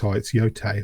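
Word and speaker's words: Yōtei: I keep saying yay. It's yote.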